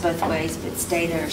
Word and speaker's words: Stata: You didn't mention stata or stata, or however you pronounce it.